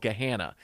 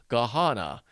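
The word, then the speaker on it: Gahanna: We have a suburb here called Gahana. And if you type in Gehana, what you'll get in a texttospech voice over is Gahana. And you just know, okay, that's AI and it's wrong.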